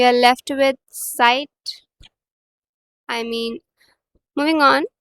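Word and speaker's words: Zeit: learn इट इट्स एस इट्स प्रोनाउ एज एस सो इट्स नॉट ज़ाइट it's site and when I से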